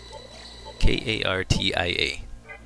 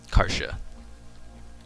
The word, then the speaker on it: Kartia: K-A-R-T-I-A. Karsha. Kartia. For some people who pronounce it that way. I just always have pronounced it Karsha.